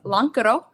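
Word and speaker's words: lonkero: Ours is the least lazy because Lancaro is how you say it in Finnish, but we changed the KE to CA to represent where we're from.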